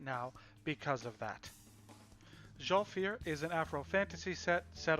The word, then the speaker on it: Zhalfir: It is, I'm going to try to pronounce this right, Zhalfir. I was going to say Zolfir, and I think I've said Zolfir for years, but the video said Zhalfir, so that's what I'm going with.